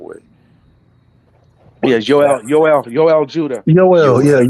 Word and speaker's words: Yoel: I think Joel, or how we pronounce Judah's dad's first name, is in Yep.